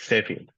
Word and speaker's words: Sefi: What's up, Saifi? Saifi, right? Yeah, I what's never up? asked. Is that how you pronounce it? Yeah, it's Sefi. Saifi.